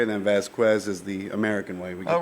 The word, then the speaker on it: Vazquez: Vazquez. That's exactly what I was thinking. Some people say Vazquez, so okay. Whichever way you want. Vazquez. Vazquez is the Spanish way, and then Vazquez is the American way.